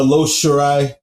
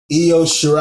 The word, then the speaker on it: Io Shirai: I could call her Lo Shirai, you know. It's Io. Yes, actually pronounced Io. Yeah. Io Shirai.